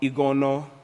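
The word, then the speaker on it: Igonoh: Nigerian survivor doctor abara ego no ego no you gotta say it you gotta say it like that okay you can't just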